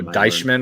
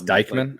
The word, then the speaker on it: Deichmann: saw something earlier about Dykman is how you pronounce his name. Oh, Deichmann or whatever. Yeah, I learned today it's Dykman. It's Dykman is how you pronounce it, is Dykman.